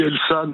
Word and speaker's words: Elsan: à côté vers Carcassonne je prononce bien elsan cher Pascal de Lubac oui bonjour On dit elsan ou j'avais le doute